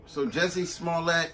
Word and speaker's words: Jussie Smollett: That's how you pronounce his name. Let me take it. So Jussie Smollett alleged that he was first there was a letter.